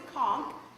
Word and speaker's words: conch: A conch. A conch. That's right. It's pronounced with a hard C sound. It's a conch, right?